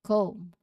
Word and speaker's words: comb: So la silent letter B, comb.